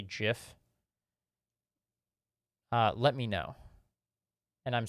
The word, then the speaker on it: GIF: think that that's bizarre I also pronounce them GIF though the book does make a joke that you could pronounce it Jif um but GIF is the side that I I sighed on I I think